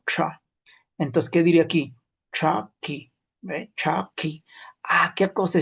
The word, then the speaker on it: chaki: Pero el sonido más antiguo, y eso ustedes lo van a leer en el manual de escritura, también sale de ese modo. Traki.